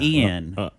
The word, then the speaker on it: Ean: Ian, Oh. spelled with E-A-N, Who's also the best man. not I-A-N, E-A-N.